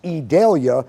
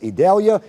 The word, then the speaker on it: Idalia: It's pronounced Idalia, sounds like an E, but it's Idalia.